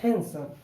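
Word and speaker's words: handsome: हमने इसको डी को नहीं बोलना है, हम बोलेंगे हैंडसम।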